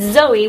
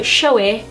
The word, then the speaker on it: Zoe: it that was because that is how I said Zoe when I was younger, because apparently I couldn't say my name correctly, so Showy was how I said my name.